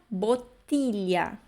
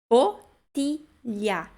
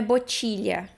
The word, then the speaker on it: bottiglia: Indo para a nossa 11ª palavra, bottiglia. Bottiglia. De novo, TI, né? Mesmo que seja com doppia T, né? Ti. Bottiglia. GLI de novo. Li. Lia. Ok? Cuidem que não é botilha, ok?